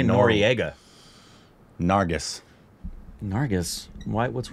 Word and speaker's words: Nargis: And I bet I'm not pronouncing that name correctly. I think you are. Nargis.